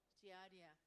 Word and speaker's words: Giardia: pathogenic only the Giardia please pronounce dia dia not don't use T at all it's not idea or whatever it's a idea g idea so when you speak very fast it's going to be Giardia and I die interminable